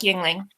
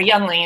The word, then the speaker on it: Yingling: I'd like to nominate Mark Yingling. Or Youngling, as he says it, but that's wrong. Yeah, he doesn't pronounce it right.